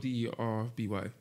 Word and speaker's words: Derby: It's spelled D-E-R-B-Y. It's pronounced Derby, but it's in England.